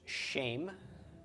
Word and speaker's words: Shem: some other Sheen words shame followed by final mem with a Sarah under the sheen it's pronounced shame and shame is a